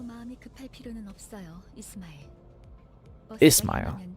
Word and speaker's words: Ishmael: Ismail. Oh, that's how you pronounce it. It's not Ishmael, it's Ismail. Ismail.